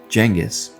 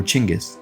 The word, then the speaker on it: Genghis: he left the scene Jenis or chingis depending on how you think his name is pronounced picked up a single